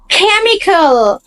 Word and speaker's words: chemical: No, it's chemical. Chemical. CH এর sound chemical.